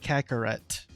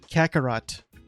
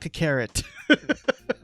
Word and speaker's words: Kakarot: They're pronouncing it Kakarot. Kakarot. Not Kakarot.